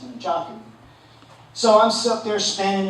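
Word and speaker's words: nunchaku: me how to use what most people call nunchucks. They're correct pronunciation is Nchaku.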